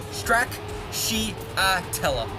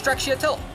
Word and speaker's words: stracciatella: this, you have to look at every little syllable and go Stracciatella, right? That's how I just went about it. And so put it together, you say it fast, it goes Stracciatella.